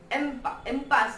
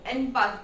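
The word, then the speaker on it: impasse: इम्पास नहीं, एनपास बोलते हैं इसे। ओके, एम्पास, ई एम वाला एम्पास, आई को ई से ई की तरफ प्रोनाउंस करना है, तो इस एम्पास।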